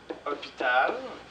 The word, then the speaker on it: hôpital: Ici, je vais utiliser hôpital. Parce que le H, c'est comme une voyelle. Hein, c'est une lettre qu'on ne prononce pas.